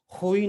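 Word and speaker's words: Rui: बहुत सारे पुर्तगाली हैं, इनका नाम जो है रुई है, या कई बार इसको हम होई नाम से भी उच्चारण करते हैं, होई।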